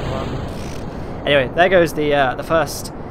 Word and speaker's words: Mun: pronounce that name, but I know in game it's spelt mun, so I feel like I should pronounce it mun.